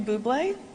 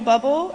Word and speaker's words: Bublé: But to Michael Bublé, or Michael Bubble, as John pronounced it, as he read